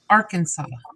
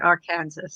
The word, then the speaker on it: Arkansas: you're good in arkansas it is illegal to mispronounce arkansas are kansas arkansas i used to say i used to pronounce it in our kansas i thought you were going to say it